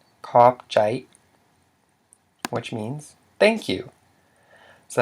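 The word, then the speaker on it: ຂອບໃຈ: It's a diphthong, I, which equals a low tone, so it's pronounced as, the whole word is pronounced as kopjai, kopjai, which means thank you.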